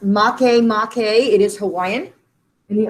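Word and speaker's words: Makemake: talked about pluto there's also aeris that is pronounced mache mache it is hawaiian and the other one is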